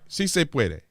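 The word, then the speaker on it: sí se puede: was in spanish and i know how to say si se puede right si se puede that's how you say it she can't even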